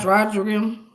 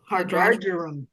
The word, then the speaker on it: hydrargyrum: How do you pronounce that? Hydrogerium? Hydrargyrum.